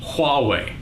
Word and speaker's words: Huawei: by motorola samsung LG hallway that's how you pronounce that huawei android is all about